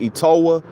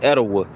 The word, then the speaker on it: Etowah: Some people pronounce the Southerners pronounce it Etowah, but it's I think the original pronunciation of it is Etowah.